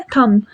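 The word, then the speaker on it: thumb: हम बोलते हैं थंब। हम थंब कहते हैं ना तो यहां पर बी साइलेंट रहता है।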